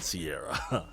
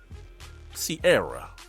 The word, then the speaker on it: Ciara: Just kind of like, just pronounce it correctly. It's not that hard. Sierra, like air in your tires, right?